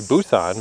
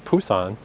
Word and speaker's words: Busan: But the thing that did surprise me is he was saying how the second biggest city, Busousan, which is where I learned that he pronounces it Busan.